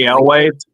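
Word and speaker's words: Elwes: She was a minor and like um Carrie Ellis El I'm bad with pronouncing his last name. Carrie Elway.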